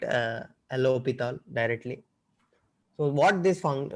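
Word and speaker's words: L'Hôpital: something it is a hope pithal rule so s is silent here so some right l hospital and some right uh allo pital directly so what this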